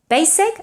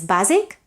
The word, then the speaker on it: basic: Basic, I know in Catalan is basic, but in English it's basic, it's voiceless. So basic and basically should be pronounced with an S and not basic and basically, that's wrong.